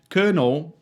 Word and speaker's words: colonel: Colonel being pronounced colonel is one of those things that makes no sense unless you've seen it before.